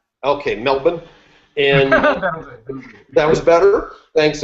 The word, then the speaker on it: Melbourne: study this is an Australian man out of melbour did I pronounce it right guys Melbourne Australia it's spelled